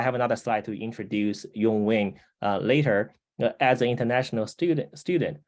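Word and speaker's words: Yung Wing: He depending on if you are a Mandarin speaker or a Cantonese speaker, Yong Wing is the pronunciation in Cantonese. And if you are a Mandarin speaker like I do, his name is Rong Hong.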